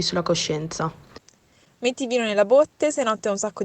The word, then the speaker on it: botte: belle e è diverso perché abbiamo botte dove si tiene il vino e botte come quelle che dai una persona le botte nel mio